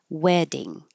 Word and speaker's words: wedding: Wedding. And this the t's change to a d.